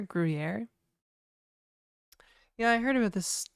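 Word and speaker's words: Gruyère: I heard Gruyere rhymes with hair. Gruyere.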